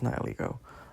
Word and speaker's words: Nihilego: I'm not pronouncing that. Nihilego. It's Nihilego.